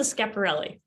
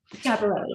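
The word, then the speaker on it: Schiaparelli: And I have to admit, I I stumble across the pronunciation all the time. So you'll have to help me out here. Elsa Scaparelli. Scaparelli.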